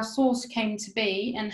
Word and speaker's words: SORSE: explained in a second source is pronounced like s-o-u-r-c-e source and we chose this